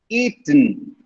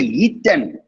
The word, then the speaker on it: eaten: texture okay next curtain eaten eaten okay that lunch had been eaten by me eating ethan see i didn't say eat them i didn't say i